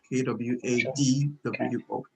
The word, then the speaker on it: Kwadwo: Yeah, that's the K-O-J-O spelling. to make pronunciation easier for other people. Okay. But then the original spelling is Kwadwo, K-W-A-D-W-O.